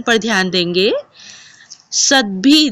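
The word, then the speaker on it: सद्भिः: उच्चारण पर ध्यान देंगे सद भी दिखने में ऐसा लग रहा है कि भ आधा है और द पूरा है लेकिन जब हम उच्चारण करते हैं तो हम द को आधा और भ को पूरा पढ़ते हैं सद भी रेव सद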